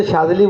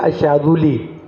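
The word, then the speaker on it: الشاذلي: الشاذلی کہا جاتا ہے۔ ہمارے یہاں تو شاذلی بولتے ہیں لیکن عربی جو ہے الشاذلی، وہ تلفظ کے ساتھ بولتے ہیں الشاذ ہاں لے، ہاں یہ اصل میں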